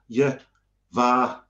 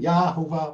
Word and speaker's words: Yehovah: I used to have the habit of saying Yahovah, but it's undisputedly yeah.